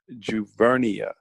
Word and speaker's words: Juvernia: won't be the last it's pronounced jouvert Nia okay okay